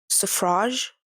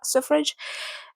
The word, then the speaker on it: suffrage: to specifically pronounce it I know that in the UK it's more like surrage when in the US it's more like surr surr suff s suffrage but it's it it's